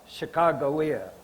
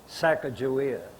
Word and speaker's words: Sacagawea: They dropped off Sacagawea, Sacajawea, [Alternative pronunciation] whatever you want to call her, it depends on what tribe you're in.